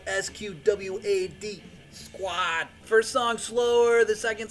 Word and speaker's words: Sqwad: This is how Squad is spelled. SQWAD. Squad.